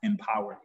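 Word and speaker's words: EMPWR: remember this and so it's e-m-p-w-r and it's pronounced empowered but it's exercising meditation prayer writing and reading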